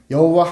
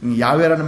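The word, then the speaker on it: 야훼: 없고 그냥 학자들이 이걸 여러 가지 정황상 야외라는 발음이 가장 근접한 발음이 아니겠느냐. 여호와라는 말보다는 야외라는 말이 더 어 원어에 가까운 그런 반응이 되지 않겠느냐. 이렇게 해서 야외라는 말을 쓰거든요.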